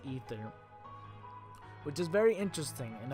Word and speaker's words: Aether: say a third but it they say is pronounced ether which is very interesting and i want to